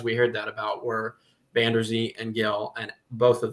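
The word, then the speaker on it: Vander Zee: I got to get that pronunciation down. Is it Reese Van Der Zee? Van Der Zee.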